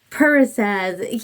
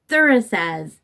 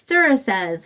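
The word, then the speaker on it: Thurisaz: Parasaz, you know what? That is a thorn. It's thorn and troll. I do know that. Okay. Well, actually, it's not Parasaz. It's Thurasaz because P is pronounced TH, a soft TH in that.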